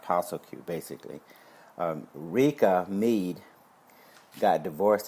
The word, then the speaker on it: PSSLQ: PSSLQ, Postal Q, pronounced Postal Q, basically.